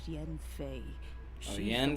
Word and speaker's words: Yanfei: to do the honors this child here is jen faye that's how you pronounce it errands for me i